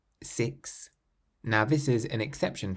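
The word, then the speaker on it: six: The number 6 is one of the only words that ends in an X and you pronounce the X as an S.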